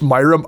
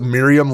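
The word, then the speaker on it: Myrrhm: And just a note, it it it yes, it's pronounced Myrum. I don't know why I pronounce it Miriam like it's the fifth member of the Golden Girls cast, but I do. I for some reason I mentally default to that. It is Myrum.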